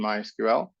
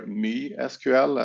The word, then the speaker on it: MySQL: We give you VMware SQL, which is a package of 2 SQL databases, Postgres and MySQL, or MySQL, as I or is supposed to be pronounced.